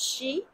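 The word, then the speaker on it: 四: and because four uh four also we pronounce as she and she is the same uh words same pronunciation as death so um four is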